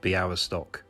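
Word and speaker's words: Białystok: The LY is pronounced we.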